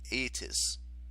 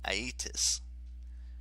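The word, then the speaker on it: Aeetes: was a guy named eitis as near as i can figure that's pronounced aitus he's a big claimed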